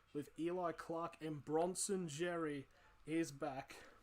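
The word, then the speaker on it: Xerri: Eli Clark and Bronson Jerry is back. Or Seri, I think it is how you properly pronounce the X.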